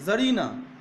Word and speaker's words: tsarina: এই দেখো TSARINA, জারিনা, হ্যাঁ, টিটা উজ্জ্ব থেকে যাচ্ছে, জারিনা। আবার দেখো এখানেও তাই, জারিনা।